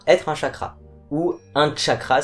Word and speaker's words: chakra: un chakra ou un cha cra si on utilise la prononciation sanskrit car le mot chakra